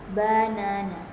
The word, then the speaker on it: banana: For example, in the word banana, banana, the second syllable is stressed.